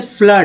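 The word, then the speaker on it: flood: उसके बाद फ्लड है, FLWD, फ्लड में डबल ओ का उच्चारण आ के रूप में हुआ है।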